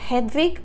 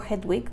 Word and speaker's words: Hedwig: Y les cuento que su nombre verdadero fue Hedwig o Hedwig, depende de cómo lo quieran pronunciar, Hedwig Eva Maria Kiesler.